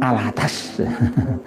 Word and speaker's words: Al-Attas: Nah, kalau penyanyi suaminya Titik Sandoro itu, ya, itu Kang Mas Muhsin Al-Attas. Al-Attos tulisannya, tapi bacanya Al-Attas. Al-Attas, bukan al-bawah, ya.